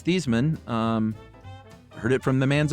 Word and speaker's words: Theismann: to ask him, and his dad responded, I've told you, it's Theismann. So it sounds like Joe has made kind of a fun little apocryphal story about this, but it seems confirmed it was Thiesman.